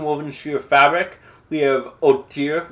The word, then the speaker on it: hauteur: We have hauteur with a little French silent H at the beginning, just to show how educated you are to know not to pronounce the H, which is from French.